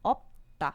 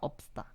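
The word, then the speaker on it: 없다: Então, vai ficar opta. Veja que fica, né? Também opta. Esse 시옷 não vai ficar opsta. Ele vai meio que vir pra cá e fortalecer o tiut pra ficar tá.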